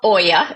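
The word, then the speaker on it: olla: at all is the allas I think I'm saying that right okay it's it's called Oya so it's a Spanish word but it's spelled o l l a so you would say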